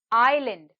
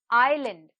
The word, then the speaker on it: island: is silent next word island island island here the letter s is silent next word column column